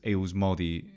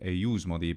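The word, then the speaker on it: eiusmodi: It says eus modi instead of eius modi, but that's another small point.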